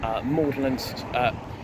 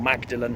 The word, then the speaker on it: Magdalen: It only stops at Oxford, Gloucester Green, Magdalen, or Magdalen, however you want to pronounce it, Magdalen Street, Observatory